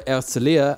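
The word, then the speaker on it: Herzliya: as the train to herzlia or erzalia as Israelis pronounced it with a silent h you can tell you're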